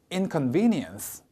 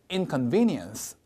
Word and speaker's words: inconvenience: 저기에 강세가 와서 제가 읽으면 따라해 보실게요. inconvenience. 한 번 더요. inconvenience.